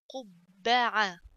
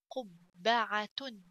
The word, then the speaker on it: قبعة: قبعة. تاء ضمتان تن. قبعة. قبعة. قبعة means hat. So let's write together قبعة قبة قبة. So ba, little ba pronounced twice with little pause in the middle.